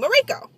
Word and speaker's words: Mirko: was mariko m-i-r-k-o mariko so that's how i pronounce her name morico we had a couple of uh elective classes